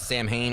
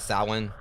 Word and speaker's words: Samhain: Yeah, some people like pronounce it Samhain or whatever, or that's, but I think it's like it's actually supposed to be pronounced Samhain. If memory serves correctly.